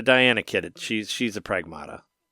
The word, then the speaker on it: Pragmata: I heard that it's actually supposed to be pronounced pragmata.